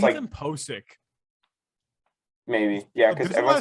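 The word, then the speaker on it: Pocic: There's a lot of Seahawks fans who don't know how to pronounce his name. Like there's like Posic. Pokic. Just imagine the first C as an S. I've heard Pochick.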